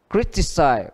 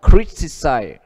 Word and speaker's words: criticize: Tiếp theo đuôi đó là đuôi eyes, eyes, I S E hay I Z E thì đều như nhau. Cách viết ở đây của anh Mỹ, trước nó hai âm, criticize, criticize, compromise, compromise, compromise.